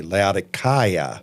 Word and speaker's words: Laodicea: Our Turkish guide, when we were there last September, kept referring to it as with a hard C, Laodicea.